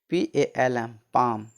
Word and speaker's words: palm: PALM पाम, पाम मतलब हथेली। ठीक, कुछ वर्ड्स में एल का उच्चारण नहीं होता है।